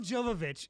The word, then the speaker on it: Jovovich: Milla Jovovich is I butchered it.